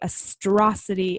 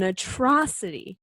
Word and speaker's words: atrocity: time I read this I say a Strasse T in my head and I texted the word this week and yeah I've been saying it wrong for the last 26 some years of my life horrible it's an atrocity not an astronaut I